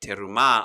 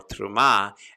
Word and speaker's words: terumah: studying called terumah or truma depending on your speed of hebrew or if you're israeli or if you're an american jew or you're a jew from around the world you might have a different pronunciation but terumah or truma